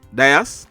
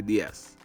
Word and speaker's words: Dias: is diaz it's spelled d-i-a-s it can be pronounced diaz or ds we are gonna say ds so mr diaz he was 33 years old